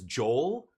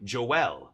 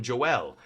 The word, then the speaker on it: Joel: my brother's name is Joel that's how you would pronounce it in in English but in in Portuguese we say Joel like French Joel like you know so